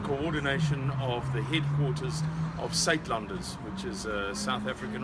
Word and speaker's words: Suidlanders: to the South African accent yes the word sat lunders is spelled s u i d l a n